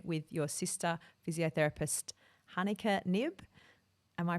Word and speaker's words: Knibbe: It's the way we say it is knibbe, but if you say nib or nibble or whatever you want, it's fine. I'm fine with that.